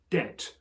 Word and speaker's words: debt: scholarly intervention happened with our word debt, which came from the French dette. Some clever clog somewhere knew that the Latin word had a B in it, debitum, and so that's why ever since the 18th century or something, we've had this useless B hanging around.